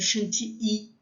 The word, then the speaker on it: chantilly: I-L-L, tem som de I, chantilly. Mas tudo bem, eu também falo, na aula eu vou falar para vocês chantilly, tá? Mas a pronúncia em francês seria crème chantilly.